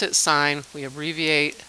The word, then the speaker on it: sine: trig functions are the trig ratios are so sine we we pronounce it sine we have reavie a like this it's not sin it sign we say sign and we used its opposite